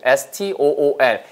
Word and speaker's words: stool: stool, S-T-O-O-L. 같은 단어들이라서 O-O-L로 끝나서 잡아드리고 동시에 난이도 알려드리고 있죠. 자 따라해보세요. stool. 이 발음이 stool 절대 아니에요. S 다음에 T 발음이니까 S, 갈듯이 S, stool, stool.